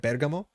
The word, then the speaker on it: Bergamo: y 2024 is in Bergamo I think you pronounce somewhere like that Bergamo bamo and on emphasis on the first and this is the